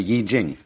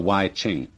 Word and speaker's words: I Ching: the Book of Changes, called the Yi Jing, not the Wai Ching.